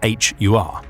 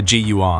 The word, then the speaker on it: HUR: translate into English as HUR. However, in both Ukrainian and Russian, the first letter can be pronounced as either G or H, depending on the word, which is where the GUR abbreviation comes from.